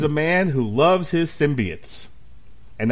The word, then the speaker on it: symbiote: And here to have fun with this movie is a man who loves his symbiotes. And that is the official pronunciation for this fucking show.